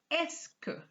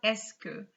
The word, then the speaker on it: est-ce que: make a sentence but we are going to add esk i repeat ask for the pronunciation so it's just going to give you this escovu parle francais so the first sentence you had originally vo parle francais you just add esque escavu parlez francais and